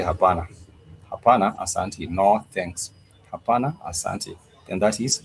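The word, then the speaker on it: hapana: So therefore someone might ask and I would come up and say habana no thanks then that is no thanks.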